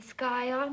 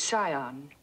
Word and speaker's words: scion: a yacht and the sky on of a prominent family the word is Sion the sea is silent yes well he looked